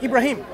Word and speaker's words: Ibrahim: Abraham and Ibrahim, there's certain variations in terms of how we say it, okay?